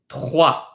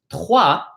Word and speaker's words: trois: Some people find it a little bit more difficult because trois, the T in trois is pronounced using the tip of your tongue, while the R is pronounced using the back of your tongue.